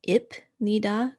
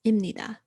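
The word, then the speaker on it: 입니다: just changes to indira so i know the pronunciation looks like ip nida because the beep is there but due to pronunciation rules the pip is actually going to sound like a meme so it's going to make an m sound so it is imnida so these are the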